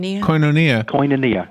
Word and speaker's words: Koinonia: Koinonia.